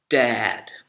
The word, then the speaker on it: dad: you should want to learn maybe okay so dad d a d i'm your dad is what